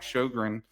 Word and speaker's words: Sjogren: And today we bring on Shogran. And, I was not going to mispronounce your last name like I mispronounced my daughter's new last name at the the wedding the rehearsal dinner.